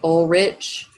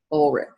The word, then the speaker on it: Ulrich: Okay, looks kind of like Ulrich. Some people might say that, but our story takes place in Eastern Europe, so the pronunciation is Georg and Ulrich.